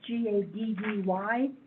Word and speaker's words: Gaddy: It's Gaddy, not Addey.